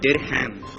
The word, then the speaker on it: dirham: The answer is dirham. Dirham. D-I-R-H-A-M. D-I-R-H-A-M. Dirham. Yes. You're sure? Yes. Well done. That is the dirham that I was looking for as the answer, and a good answer on that one.